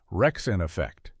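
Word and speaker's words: Wreckx-N-Effect: The song was Rump Shaker by a group called Rexen Effect, pronounced Rexen Effect.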